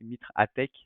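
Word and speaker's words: MITRE ATT&CK: Donc le Mitre Attack, alors je ne sais jamais le prononcer, c'est Mitre Attack, voilà.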